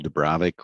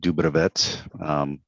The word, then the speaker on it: Dubrovets: And so my name's Dubrovic, or as Roman more correctly pronounced it, Dubrovets.